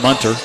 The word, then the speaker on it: Minter: is fouled by Austin Minter or monter it is it's pronounced munter it's a good thing